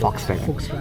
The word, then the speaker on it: Volkswagen: हम क्या कहते थे? Volkswagen कहते थे। Volswagen। Volkswagen कहते थे। तो बट यूजुअली इसको प्रोनाउंस करते हैं Foxwagen बिकॉज़ वी को एफ प्रोनाउंस करते हैं यहां पे।